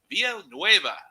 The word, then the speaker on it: Villanueva: The RGC was Hector Villanueva from Killer V's Barbecue.